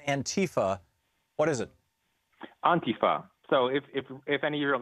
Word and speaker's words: Antifa: the point is that the emphasis is on the beginning yeah okay um tell